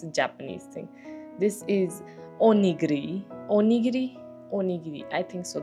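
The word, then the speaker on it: おにぎり: This is onigiri. Onigiri? Onigiri. I think so. That's what it's like. That's how you pronounce it.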